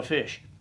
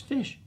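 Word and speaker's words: ghoti: the ti is shh so if we had just if we had to spell like we learned to read then GH oh o t i is how we would spell fish welcome to the English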